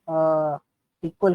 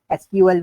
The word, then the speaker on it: SQL: तो सपोज अगर आपको बोला जाए कि सीक्वल को कैसे प्रोनाउंस किया जाए या कैसे चीजें की जाए इट्स वै सिंपल आप सीक्वल बोल सकते हो सीक्वल बोल सकते हो एसक्यूएल बोल सकते हो आप कुछ भी इसको बोल सकते हो ठीक है तो